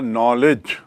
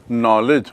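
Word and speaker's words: knowledge: Noun से संज्ञा बनेगा नॉलेज। नाउन से संज्ञा क्या बना? नॉलेज। और नॉलेज की स्पेलिंग देखिए दूर-दूर तक उसका मूल शब्द से ताल्लुकात नहीं है। के एन ओ डब्ल्यू एल ई डी जी नॉलेज।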